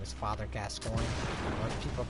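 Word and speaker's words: Gascoigne: on it's very good and no one can pronounce his name except for me his name is father gascoin people Call Him Father guacamole uh but we're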